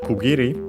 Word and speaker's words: kiri: So we got kiri actually also accent on the last syllable so be careful.